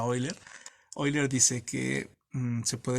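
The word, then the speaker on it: Euler: pero me encanta porque eiler así lo voy a decir oiler se escribe eer pero creo que se pronuncia oiler eiler dice que se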